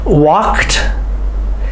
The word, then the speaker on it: walked: Walked. Biked. Both of those ED words have the T sound at the end.